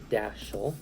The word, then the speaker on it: Dathel: And then I rearranged that to form the name Dathel, which sounds like Dashel.